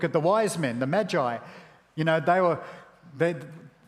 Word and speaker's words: Magi: wise man or the Magie from a couple of weeks ago I say Magie or that that's cooking ingredients Now isn't it yeah the Magi that's better better pronunciation isn't it the Magi we looked